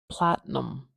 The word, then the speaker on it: platinum: this funny plattinum Platinum I have heard some people say this I like Platinum Platinum and it's a little easier to say a true T there but me I I stick it together Platinum it's a platinum